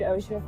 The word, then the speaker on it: Osha: Oh, did Osha fall? Is that how it's pronounced?